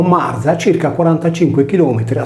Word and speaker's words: Μαρία: seguita da una vocale nell'esempio di Maria il nome si leggeva Marza Dunque per scoprire il